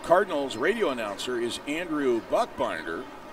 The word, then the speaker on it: Buchbinder: And Springfield Cardinals radio announcer is Andrew Buchbinder. That is B-U-C-H. But it's called Buck. Buchbinder. But this is Bush Burger.